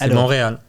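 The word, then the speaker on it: Montréal: I have no clue you just don't see the te you don't say the te you monreal yeah but there's a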